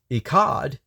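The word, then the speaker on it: אחד: It's got more of a throat clearing sound at the end. Echad. It almost like you're clearing your throat.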